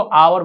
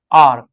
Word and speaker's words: our: आपको दिखाई they आर, इसको क्या प्रोनाउंस करेंगे, आर। कितना आदमी इसको आवर बोलता है, नो, आर।